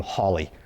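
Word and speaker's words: Halley: Actually, I think he pronounced his name Holly is what I'm told. That's what I'm told. I don't know. This was in the 18th century. They did things funny back then. British always do. Huh. Like, right. The car, right? Exactly. Exactly. So, apparently he pronounced it Holly.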